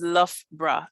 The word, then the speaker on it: Loughborough: But to pronounce it is Loughborough, literally as you can see on this middle text over here.